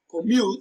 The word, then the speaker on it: commute: Commute is pronounced and broken down into syllables as commute. Mute receives the stress. It is pronounced louder and longer.